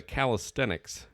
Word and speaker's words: calisthenics: Is there a ten at the end or is it a calisthenics? It there's no T. It's not catastics.